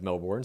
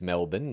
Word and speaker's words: Melbourne: And then Jen corrects a producer on the pronunciation of Melbourne, saying it's Melbourne, not Melbourne.